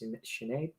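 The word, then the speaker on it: Sinéad: last name i know it's pronounced sinead but i can't do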